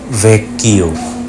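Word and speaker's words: Vecchio: Double C এর পরে এইচ থাকলে উচ্চারণ হবে কয় কয়। যেমন ছবিতে দেখতে পাচ্ছেন পালাৎসো ভেক্কিও মানে পুরনো প্রাসাদ।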